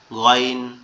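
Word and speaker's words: غ: দেখতে এটা হচ্ছে কিন আর এটা উচ্চারণ হবে কোথায়? আমাদের গলার শেষ অংশ। অর্থাৎ এই যে আমাদের মাথার সাথে গলার যে অংশটা লেগে আছে মনে হবে আওয়াজটা গালের মধ্যে থেকে আসতেছে। গাইন গাইন গাইন গাইন গাইন গাইন গাইন।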